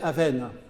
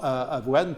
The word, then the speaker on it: avoine: du XIXe siècle sur la prononciation du mot avoine, parce que apparemment, à Paris, on disait avoine, qui est devenu avoine, alors que le peuple disait avenne. Et c'est finalement avoine qui s'est imposé.